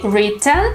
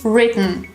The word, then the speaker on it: written: When T goes at the end or at the middle of the word, we don't really pronounce the sound T, but it looks like they are stopped somewhere at the throat.